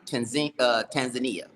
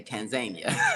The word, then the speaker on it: Tanzania: She said Swahili, Tanzania. Tanzania. America, they say Tanzania.